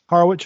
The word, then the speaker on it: Harwich: It's Harwich, or do you say Harwick? How do you say it, Kevin? No, you get it. You get it right on the first try. Harwich, okay.